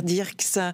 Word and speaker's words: Dierckx: Bonjour Claire Dirks, je prononce bien votre nom déjà ?